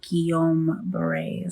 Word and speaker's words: Guillain-Barré: It's called Guillain-Barré syndrome. That's like how new the diagnosis is. All right, so you got it. Yes, you do say it in French.